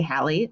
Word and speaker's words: Hallie: name is hallie i pronounce my first name like halle i like to say halle like halle berry i am a professor